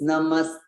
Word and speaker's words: namaste: three namaste foreign heavy syllable and you have to give it some time you have to give it some weight it's not it's not